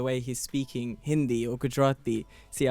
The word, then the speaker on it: Gujarati: he's speaking Hindi or Gujarati see I said Gujarati because it's not good roti and I think it's